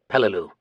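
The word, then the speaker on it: Peleliu: spelled P L E L I U and pronounced Pelu.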